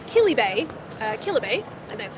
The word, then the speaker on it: Kilibay: Um the next booth we're going to be looking at is called Kilibbe uh Kilibbe and that's how you pronounce it and they are a huge bubble tea supplier in Taiwan.